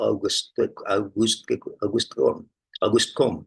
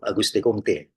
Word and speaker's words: Auguste Comte: Auguste Comte ya atau Auguste Comte ya. Maaf ya kalau saya membacanya Auguste Comte itu orang Prancis menyebutnya begitu, Auguste Comte. Tapi kalau orang Inggris menyebutnya Auguste Comte ya.